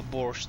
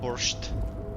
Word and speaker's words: borscht: About the special borscht. What's so special about this borscht? It's pronounced borsch, actually, not borscht.